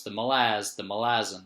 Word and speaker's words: Malazan: the first book of Malazan, Book of the Fallen. I think it might be pronounced Malazan because I thought the city is Malaz, or like the country or whatever it's named after is Malaz.